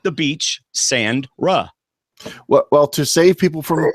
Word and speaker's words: Sandra: It's like the beach, sand, Ra. Well, to save people from typing it later or tweeting it or whatever, it's pronounced like it's spelled, David. So just Sandra.